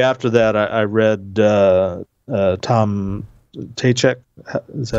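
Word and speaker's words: Ptacek: you know, shortly after that, I read, Tom Tachek. Is that Tachek. How you pronounce his name? Tom Tachek.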